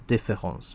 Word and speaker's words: différance: as the difference ends, because it's only written, it only looks different. It doesn't sound different. That's what Derrida likes about it, right? Because this is the reason why I like to pronounce différence, right? Like in the French way of pronouncing difference, right?